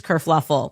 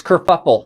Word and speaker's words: kerfuffle: Prince Harry abdicates England, causes this whole race kerfluffle. Oh, no, it's kerfuffle. We knew a kerfluffle happened. Kerfuffle. Because this dress kerfluffle. Pronounced kerfuffle. Kerfuffle.